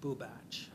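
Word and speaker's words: Bubacz: It's B as in boy, U, B as in boy, A as in apple, C as in cat, Z as in zebra, and it's pronounced Bubach.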